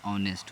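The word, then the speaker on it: honest: Singular countable noun है, और इसका उच्चारण क्या होता है, ऑनेस्ट होता है, तो एन लग जाएगा।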